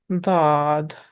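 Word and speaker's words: ضاد: Dad, heavy D sound.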